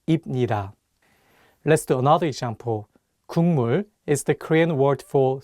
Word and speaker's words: 국물: But it's paired with the nasal sound 미음, so it changes the pronunciation from a G sound to an NG sound, and you need to read it as 국물.